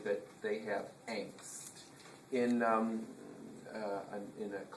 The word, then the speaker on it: Angst: call we have a it's pronounced differently it's called pronounced angst and usually teenagers do